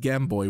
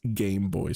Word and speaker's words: Game Boy: my girlfriend just pointed out that apparently I mispronounced uh Game Boy I said gamboy which is essentially what we called it um